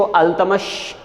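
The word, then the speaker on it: Iltutmish: इल्तुतमिश को अल्तमश भी प्रोनाउंस किया जा सकता है।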